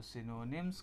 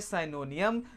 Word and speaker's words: synonyms: तो कुछ हमारे प्यारे से महान विद्यार्थी हैं जिसको पढ़ते हैं साइनोनियम, जो कि प्यारे बच्चों पूरी तरीके से गलत होता है। इसका सही प्रोनाउंसिएशन क्या होता है सभी आप सामने ध्यान देंगे। इसको हम पढ़ते हैं सिनोनिम्स।